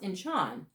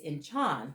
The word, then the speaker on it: Anshan: Now, I'm going to spell this one out because it's pronounced Inchan, but it's spelled Anshan. The SH, as we know it, has a soft sound, but the pronunciation of this, because it is Greek, is Inchan, which is a harder sound.